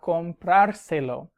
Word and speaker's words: comprárselo: y Juan va a comprárselo. Notice I have to add an accent on the vowel before the R, though, to keep the emphasis.